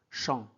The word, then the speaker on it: chambre: AM se prononce en chambre.